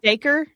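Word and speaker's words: Dacre: Uh, it's like d a r e daker daker. I think it's daker mcgomery.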